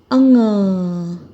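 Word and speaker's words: ङ: और इसके बाद हम लिखेंगे अंग, ठीक है। इसका उच्चारण होता है अंग। ये अड़ा नहीं है, ना ही ये ड है, ये है अंग।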